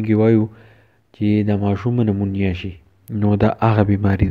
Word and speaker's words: pneumonia: No pa de ki da p che de silent te o da ba munga pa de se pronounce kau che pneumonia.